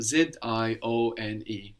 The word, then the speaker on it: zione: that Italian, we will change the shun to zione, which is spelled Z-I-O-N-E, zione. So indication Zione. becomes indicazione. Indicazione.